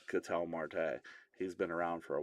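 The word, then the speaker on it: Ketel Marte: And I mean, listen, I'm nobody to make fun of pronunciations on names. I'm just saying if you watch baseball, you know it's Catel Marte.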